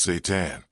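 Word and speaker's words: seitan: If you've never heard of Satan, pronounced Satan, you're not alone.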